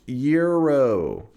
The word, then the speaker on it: gyro: H I say gyro. I know. I know. People are always like, "It's pronounced Euro." Listen, here in the land of freedom, we have the freedom to say things however the we want. It's gyro.